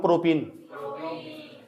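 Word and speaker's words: propene: तो ये क्या लिखा हुआ, C3H6, इसका नाम है प्रोपीन। तो लंबे समय तक उच्चारण करो प्रोपीन का, जबरदस्ती इन जोड़ रहे लास्ट में एक बार और करो, देखो उच्चारण, डंगर पूरे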